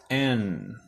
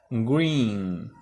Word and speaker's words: green: Verde en inglés se escribe así, green, green. Acuérdense que cuando ven doble E se pronuncia como una I. Ok, green.